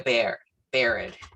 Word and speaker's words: Biard: We have Biard. Did I pronounce that? Yeah. Yes, you did. Biard.